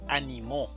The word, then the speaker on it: animó: Una cosa es ánimo, animo y animó.